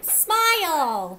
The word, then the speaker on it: smile: That E is silent. It gives its powers to the I and makes I say its name. Sm, I'll, smile.